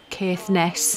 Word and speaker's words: Caithness: we then went to caithness Yarns or Keith Ness he said it can be carefulness or caithness he didn't care which way he pronounced it um and that was